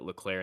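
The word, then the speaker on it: Leclerc: got joe gwen you i think that's he pronounced it leclair and signs um they all yeah i mean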